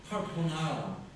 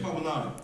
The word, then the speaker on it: 까르보나라: 카르보나라. 카르보나라. 카르보나라. Taeyong looked it up. 아그 카르보나라. 아라. 이렇게 한다. 카르보나라. Taeyong looked it up. The pronunciation for 좀 불린데. 까르보나라.